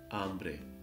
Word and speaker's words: hambre: here H is silent hambre pobre means hugger H is silent again however in this case